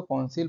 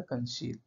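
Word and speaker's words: conceal: याद रखने के लिए मैं इसको कॉन्सील बोलता हूँ, बट इसका प्रोनंसिएशन होता है कंशील, ठीक है।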